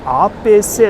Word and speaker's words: A.P.C.: れね、フランス語でアーペーセと読むんですけど